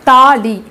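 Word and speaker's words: थाली: தா தா வந்து நம்ம அழுத்தி உச்சரிக்கிற மாதிரி உச்சரிக்கணும், தாலி.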